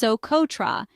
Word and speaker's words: Socotra: Soototra, pronounced Soototra, is an island located in the Arabian Sea